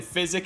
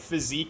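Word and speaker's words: Physick: You're saying physic is right, physique is wrong. Do a lot of people say physique?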